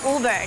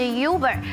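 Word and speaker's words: über: 在台湾我们都说 Uber，但是在德语的发音呢是 Uber。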